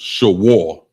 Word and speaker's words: shawar: The next one is oxen or beef, and it's pronounced shawar, and it's spelled S-H-A-W-A-R.